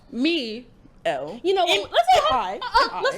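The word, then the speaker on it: Mielle: You know the one that's pronounced Myel. Me L.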